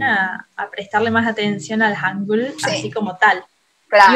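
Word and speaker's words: hangeul: Hangul, por ejemplo, se escribe Han y después G-E-U-L. O sea, la U, la romanización es la E y la U. Entonces, cuando ves que es E-U, vos decís U, o sea, ya sabes cómo se pronuncia eso.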